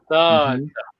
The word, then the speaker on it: Tata: Tata. We have it's a long vowel. Tata.